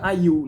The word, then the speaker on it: Ayew: O André e o Jordan Ayew, né? Ayew, acho que fala assim, Ayew, né? A-Y-E-W, né? Se escreve realmente André normal, A-N-R-D-R, obviamente, Jordan, né?